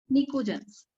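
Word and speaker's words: pnictogen: अब आया हमारा स्पेशल सवाल, नाइट्रोजन फैमिली को एक और नाम से जानते हैं, निकोजेंस। पी साइलेंट होता है, PNICOGEN।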